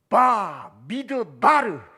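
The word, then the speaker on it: מדבר: 미드바르. 쉽게 말하면 믿어봐. 얼마나 중요한 말입니까? 우리나라 발음하고 같은 발음이죠. 믿어봐. 뭐 할 때?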